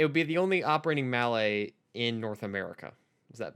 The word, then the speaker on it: Mallet: the only like operating mallet in north america mallet i'm sorry you want to say that again